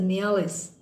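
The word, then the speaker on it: mjölis: Now this Mialis, now it's pronounced as Mialis. Okay. Wherever J is, this J is written here. You can just keep that silent and pronounce it as Mialis.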